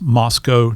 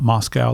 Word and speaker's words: Moscow: you have to pronounce Moscow, not Moscow. They take exception to that, so you have to think Costco. So Moscow.